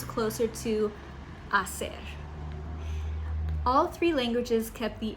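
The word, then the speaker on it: hacer: The F sound stayed in Italian and French far but in Spanish it softened into an H which is silent in the modern pronunciation. So while Spanish writes asser it sounds closer to asser.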